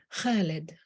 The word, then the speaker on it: Khalid: wisdom even my eight-year-old could constrict her throat muscles the right way to say Khalid immortal like an ancient